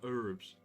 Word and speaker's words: herbs: The herbs. If they're going to pronounce it like that, why did they even put the H there?